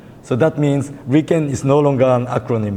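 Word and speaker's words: RIKEN: fourth character and attach them so this is pronounced as Ren and many years ago Ren in English was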